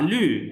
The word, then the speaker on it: 律: 法律俩一项这是法律，律不是律，律 it's dotted g，法律不是六，法律律律六 L के बाद